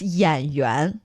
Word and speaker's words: 演员: Actually, it's 演员. 演员. Remember, we talked about yuan being the theater. person. No, that's yuan. Similar pronunciation, different tone, okay.